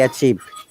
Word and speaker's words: achieved: now the word achieved remember one important matter in pronunciation if there is s at the end or d at the end we must pronounce the letter clearly i couldn't hear your